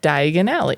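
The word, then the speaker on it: Diagon Alley: of the keys and diagonale yes which sounds like diagonally but Di Aly wow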